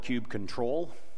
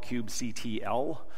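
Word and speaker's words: kubectl: backs etc and it all boils down to cube cuddle now there's about 19 different ways of pronouncing that some people call it cube control some people call it cube CTL some people call it cube cuddle that's usually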